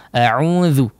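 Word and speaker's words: أعوذ: Di sini saya ulang kembali ya sedikit saja ya, huruf dzal jangan sampai menebal. A'udzu, a'udzu ya, ditipiskan tipis saja ya. Tidak perlu menebal. Kalau menebal jadi dha ya.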